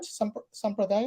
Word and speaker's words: sampradaya: you have the different sampradaya. Mhm. How do you say that? Yes, Right? yes, I know about that. Yeah, I know about that. Yeah. Yeah. Did I say it right? Sampradaya?